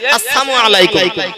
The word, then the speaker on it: আসসালামু আলাইকুম: তারা এসে বলল আসসালামু আলাইকুম, সালাম না, ল শব্দটা লাম শব্দটা আউট করে দিয়ে আসসালামু আলাইকুম।